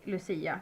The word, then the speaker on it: Lucia: We just say Lucia because that's the Swedishified um pronunciation, I guess.